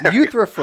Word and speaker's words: Euthyphro: Yes, Euthyphro.